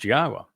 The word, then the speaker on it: Yahweh: to tell you that Yahweh's name is pronounced Yahwa and explained exactly why and proved it.